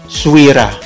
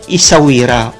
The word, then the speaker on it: Essaouira: Pronounced Souira or Essaouira or Iswira, depending on who you talk to.